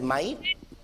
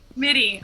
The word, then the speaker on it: Mitty: I don't know how to say his. Is it Might? Mitty. RJ Mitty.